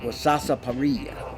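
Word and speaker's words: sarsaparilla: is a root and the correct pronunciation back then and we're talking here in the 1700s at wasasa paria and they would make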